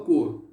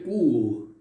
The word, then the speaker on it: quo: canais de pronúncia, e verifiquei que é quo, ou seja, o U é mais acentuado do que o O.